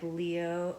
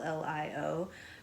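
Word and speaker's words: Llio: Like Leo or I was pronouncing it Leo. L L I O, but it's actually pronounced Lio.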